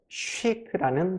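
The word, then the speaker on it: chic: 알 수가 있어요 이렇게 알파벳 ch가 쉬 쉬 이렇게 발음 되잖아요 그러면 아 프랑스어에서 유래된 영어 단어구나 다시 한번 프랑스어에서 유래된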